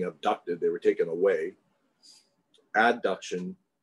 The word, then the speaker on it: adduction: they were taken away adduction is bringing them together adduction add a d a